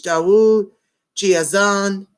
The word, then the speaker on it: Daud GeAzan: of Atos he also has a personal page dawa Gia's on did I say it right correct thank you